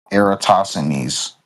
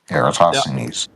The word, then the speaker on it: Eratosthenes: How do you pronounce that? Eratosthenes. Eratosthenes.